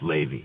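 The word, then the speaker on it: Laivy: everything his name's you'll correct me forgive me livey Miller yes Ley we you know it's spelled l a i v y pronounced Ley like get all grateful that song Lazy River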